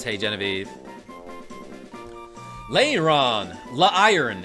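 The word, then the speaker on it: Lairon: says Hey Genevie Leon La iron is is how it's supposed to be pronounced iron armor Pokémon when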